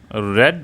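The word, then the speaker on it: read: तो इसमें क्या बनेगा, राम रेड अ बुक। देखो, रीड जो है, इसकी सेकंड थर्ड फॉर्म सेम रहती है, बस हम इसकी प्रोनाउंसिएशन चेंज कर देते हैं, रीड, रेड और रेड।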